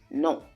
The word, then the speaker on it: non: And how you say no is non. It's a on sound. Non.